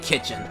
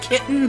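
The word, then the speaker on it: Ktjn: I really should find kitchen cuz this is this is a perfect spot to like end the stream but I haven't found kitchen and her name is supposed to be pronounced kitten but oh that speak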